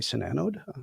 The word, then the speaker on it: SiNANODE: a product line called sanod now am I pronouncing that correctly sanod perfect thank you oh perfect perfect so yeah